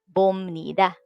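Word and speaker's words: 봅니다: So it will become bomnida. And then to ask a question, chimnika, chamnika, pomnika. Okay. The bop here will sound mium instead of bopnida.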